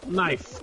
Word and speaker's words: knife: was instructed to do knife knife and i fe no cat there's a k at the beginning no that would be can i well no because the k is silent well take that quiet